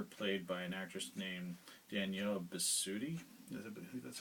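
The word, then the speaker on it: Danielle Bisutti: there's a character played by an actress named danielle besuti that's how you say her name but her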